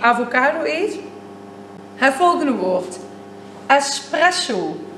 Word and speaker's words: espresso: Espresso. Dus niet expresso.